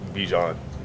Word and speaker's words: Bijan: Um I know in the interview like in the summer, you know, I I pronounce it like how my mom says it, but like I tell everybody like Bjan.